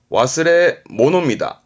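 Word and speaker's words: 忘れ物: 바름은 도우 붓입니다 도부스 도부스 2번 잊어버린 물건이요 와스레 모노다 와스레모노 와스레 모노요 3번 한점 뭘까요 건물입니다 우리는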